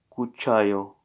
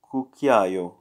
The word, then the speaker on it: cucchiaio: Cucciaio. Is it cucciaio or cucchiaio? Cucchiaio. It is cucchiaio. That's how you say it.